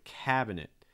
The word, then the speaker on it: cabinet: kitchen terms so again cabinet cabinet stretch the first syllable cab acid like in cat cat cabinet cabinet next where